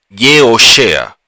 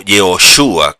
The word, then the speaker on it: Yehoshua: Moshe le cambia el nombre a Oshea y ahora se llama Yehoshea o Yehoshua, como lo traducen algunos o lo pronuncian algunos.